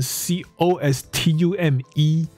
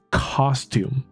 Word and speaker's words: costume: custom C U S T O M 跟 C O S T U M E，你看它的分别就是把 O 跟 U 颠倒，对调这样子，所以它的发音也不一样，因为 C U S 基本上不会是长音的，所以就是 cus customer customize customs。那 COS 呢就是长音了，所以这个衣服啊叫做 costume costume。